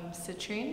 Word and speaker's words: Citrine: I would be Citrine, that would be my name. Citrine? Yeah, after the crystal. It rhymes with latrine.